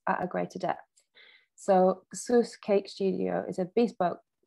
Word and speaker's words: Süss: So Sus, as you pronounce it, because it's got umlauts for the German audience, or how it should